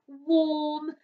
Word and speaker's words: warm: out with this one so we've got a r in the middle what sound does a or normally make u2 normally makes an r sound doesn't it but this is the word warm so this time it's making an o sound okay so in our